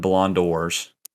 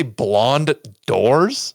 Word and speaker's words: Ballon d'Or: 7 Ballon d'Ors. that how you pronounce it? I've never known. Did you just say blonde doors?